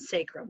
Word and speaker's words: sacrum: Ilium, ischium, coccyx, and sacrum. That's how you pronounce those.